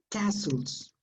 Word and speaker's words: castles: pronunciation of that word t is not pronounced so you must say castles okay no no